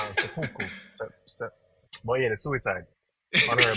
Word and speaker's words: seppuku: Because the thing is, I even knew about Sepenku, or Um, no, let you say it wrong. I can't say it right. Seppuku.